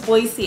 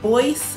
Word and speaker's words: Boise: but yeah b-o-i-s-e boise i think if it was boise it would have like another e or something so i'm gonna go with boyce idaho that's boise idaho